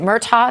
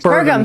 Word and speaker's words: Burgum: night was where the candidate Doug, is it Murtaugh? Is that how you say his name? Murtaugh? Burgum.